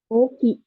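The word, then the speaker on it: 大きい: Yang pertama ini ada kanji oki. Ya, oki. Artinya besar gitu ya. Ini O-nya double gitu, terus I-nya juga bacanya panjang gitu ya. Jadi ditambahin I di belakang Ki gitu. Jadi Oki. Dibaca panjang. Ini besar ya.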